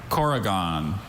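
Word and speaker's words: korrigan: Corrigan.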